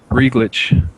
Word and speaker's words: Regit: I say it wrong regit uh it's not reg okay okay regit sorry regit okay I think